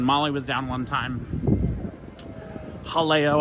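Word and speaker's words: Jaleo: We had Galileo when Molly was down one time. Halleo, I think, is actually how you pronounce it. should probably stop pronouncing it like a Midwestern white guy.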